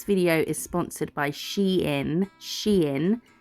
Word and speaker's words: Shein: Shein, that's how it's pronounced. I checked. It's been confirmed.